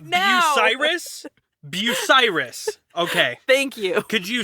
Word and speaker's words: Bucyrus: Bucyrus. Okay. Thank you. Could you spell that phonetically for me?